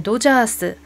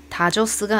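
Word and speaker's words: ドジャース: 그 다음에 도자스, 다저스가 아니고요. 도자스라고 일본어에서는 하면 되고, 일본어의 이런 가타카나는 스펠링에 입각해서 읽는 경우가 많습니다. 다저스 스펠링 보면 DO로 시작하잖아요. 그래서 영어로는 다 발음이 난다고 하더라도 스펠링 위주로 도 발음을 하는 게 일본입니다.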